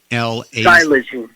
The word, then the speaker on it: xylazine: Xylazine.